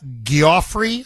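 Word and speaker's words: Giuffre: Virginia Guilloffrey, I believe is how you pronounce her last name.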